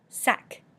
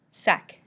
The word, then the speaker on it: sac: Sac. Sac, meaning a bag. Pronounce the C at the end.